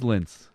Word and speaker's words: Lince: gonna be just Dorado it's Lince to rhyme with Vince and we had a